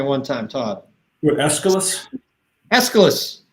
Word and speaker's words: Aeschylus: Aeschylus. I hope I'm saying it right. But Aeschylus. that's how the teacher I learned about Aeschylus from said it.